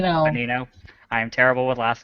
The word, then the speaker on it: Bonino: Bonino. Bonino.